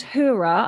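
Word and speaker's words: Heura: vegan chicken and it's by a brand called hura i think i'm pronouncing that right it's spelt h-e-u-r-a and they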